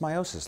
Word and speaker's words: meiosis: Now, it is properly pronounced meiosis, like I just said, but I have found,